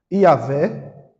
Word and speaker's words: Yahvé: Eh, em português tem três maneiras de chamar, de de pronunciar essa palavra senhor aqui. Yahvé, I, A, V, E Yahé.